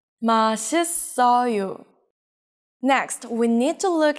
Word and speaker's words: 맛있어요: It's not 맛있어요, it's 맛있어요.